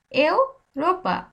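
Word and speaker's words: Europa: দিলেই আপনি বুঝতে পারবেন দেখেন ইউরোপা আমি কি বলতেছি এও রোপা এও রোপা এর উচ্চারণ ই এর উচ্চারণ এ এর মত করতেছি এও রোপা এও রোপা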